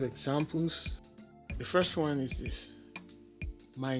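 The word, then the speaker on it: dis: Also, the TH factor in English doesn't apply in pidgin English. For example, where you have TH this or this, that pronunciation is not used in pidgin. Instead, it is pronounced as a D.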